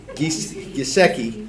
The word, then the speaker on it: Gieske: And Hannah Gieske is Gisecki, 3 syllables, right?